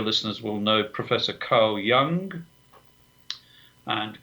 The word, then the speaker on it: Jung: Many of your listeners will know Professor Carl Jung, and Carl Jung spelled Jung, not Young in the other pronunciation of the word.